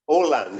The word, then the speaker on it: Åland: Oh, And it's pronounced Åland. There's the A has a little circle on top of it, so it becomes an O.